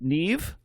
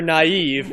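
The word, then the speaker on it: Nieve: available neve on piano steve steven i think i'm pronouncing that right it's n-i-e-v-e yes or naive but i got it uh yeah there you go either steve neve or steve naive would both be awesome so it's probably neither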